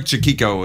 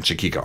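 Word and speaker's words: Chaquico: because there you go craig chukiko is a marvelous guitar player i think that's how you say his name chiquiko yeah we were talking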